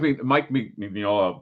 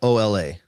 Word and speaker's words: Mignola: Oh, it's like the Enya, Mignola. No, I can't. I'm gonna do it the way. Just think Minyola.